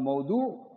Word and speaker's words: موضوع: کا ٹائٹل میں جائے, جس کو آپ اردو میں موضوع کہتے ہیں نا, موضوع تو میں عربی کی کا تلفظ بول رہا ہوں, موضوع, جس کو موضوع کا نام مل جائے وہ حدیث رہتی ہی نہیں ہے.